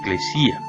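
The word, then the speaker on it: ἐκκλησία: En este caso, la palabra iglesia es una traducción de una palabra griega pronunciada eclesía.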